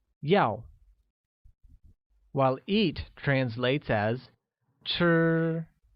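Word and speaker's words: 要: to cow and is pronounced with a falling tone like Yao while eat translates as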